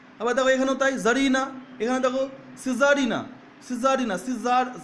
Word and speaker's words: tsarina: এই দেখো TSARINA, জারিনা, হ্যাঁ, টিটা উজ্জ্ব থেকে যাচ্ছে, জারিনা। আবার দেখো এখানেও তাই, জারিনা।